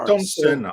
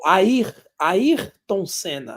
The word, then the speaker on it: Ayrton Senna: Yeah, in Brazilian Portuguese, we pronounce Ayrton Senna. There's an R. Ayrton Senna. Oh, okay. There's Ayrton an R. Senna. So Ayrton Senna.